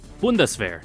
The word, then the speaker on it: Bundeswehr: Pronunciation. Turn it up. Bundeswehr. Okay, yeah, it was close. The Bundeswehr.